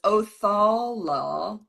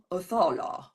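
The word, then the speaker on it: Othala: okay it is uh the pronunciation is oal oal it's very Viking uh the meaning of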